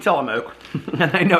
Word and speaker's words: Tillamook: grilled cheeses all right which I'm probably horribly mispronouncing telemoke and I know it's